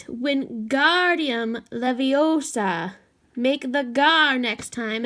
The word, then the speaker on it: Wingardium Leviosa: the next table wasn't having much more luck Wingardium Leviosa he shouted it's waving his long arms like a windmill you're saying it wrong Harry it's when Guardium Leviosa make the GAR next time and long you